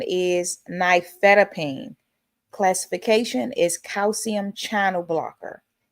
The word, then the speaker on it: nifedipine: The generic pronunciation is nifedipine.